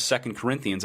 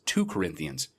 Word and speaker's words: 2 Corinthians: Christian would ever make because of the pronunciation of second Corinthians like every other two parts set of books in the Bible is always second and not to I live my life